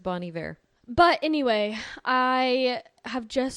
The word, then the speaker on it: Bon Iver: It's pronounced Bon Iver.